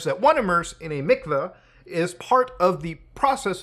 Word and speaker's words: mikveh: So a mikveh, or mikvah, whatever the pronunciation is, I'm not Jewish, obviously, actually says pronounced mikveh, so I was right in the first one.